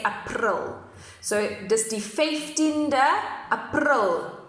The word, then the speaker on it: April: 15th of April 2020, but we just pronounce it differently in Afrikaans. So we say April instead of April, okay? So you don't say April, you say April.